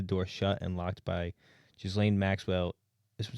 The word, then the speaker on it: Ghislaine: It's Ghislaine, please. Ghislaine is. That's how you say her name. It's not Ghislaine.